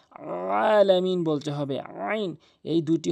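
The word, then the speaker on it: العالمين: এই আইনের জায়গায় অধিকাংশ লোক হামজা এনে উচ্চারণ করে যার ফলে অর্থ চেঞ্জ হয়ে যায়। আলামিন বলতে হবে।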